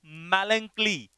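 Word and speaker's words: melancholy: मैलंकली, इसका प्रोनाउंसिएशन क्या है, मैलंकली, क्या पढ़ेंगे इसे, मैलंकली।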